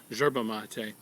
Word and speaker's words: yerba mate: this product it's called yerba mate depending on your accent it might be pronounce gerba mate and Yerba Monte is